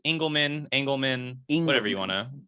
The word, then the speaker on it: Engelman: Yeah, it's Engelman, whatever you wanna.